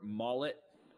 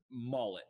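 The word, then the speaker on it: Maulet: they bring in Arthur mullet as my guess on how to say his name I can't remember it even being said out loud I literally hadn't heard of him mullet is my guess m-a-u-l-e-t from Pittsburgh slot Corner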